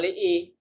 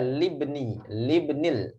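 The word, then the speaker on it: لِابْنِ: Jangan li'i. Langsung saja libnil. Cara bacanya gitu, Bu.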